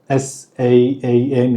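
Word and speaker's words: 三: 볼게요음 다르게 읽죠 석삼 자는 saam 이래서 길게 읽어요 싸 싸음 내 마음 신자는 Sam 쌈 쌈 쌈 이렇게 읽죠 어 근데 처음에 제가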